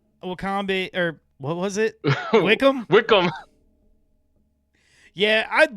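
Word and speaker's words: Wycombe: Isn't it called Isn't it called like Wickham or something like that? Oh my god. You're right. That is how they pronounce it.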